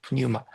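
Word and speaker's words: πνεῦμα: 자, 두 번째 예배는 영으로 드려야 하는데 여기서 말하는 영은 뉴마, 푸뉴마라고 하는데 뉴마, 피가 보통 잘 미국 영어에서는 묵음인데 어, 히브리어에서는 푸뉴마라고 합니다. 푸뉴마.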